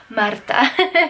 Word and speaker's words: Marta: if you're new here my name is Marta but if you can roll your R's then you can say madatha guys we hit 500